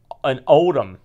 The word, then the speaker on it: Oldham: And they rented an office over a wedding shop in Oldham. Is that the way you pronounce that? Yeah. Oldham, yeah.